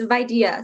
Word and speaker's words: VIDEA: It's VIDEA. So think like idea with a V in front of it.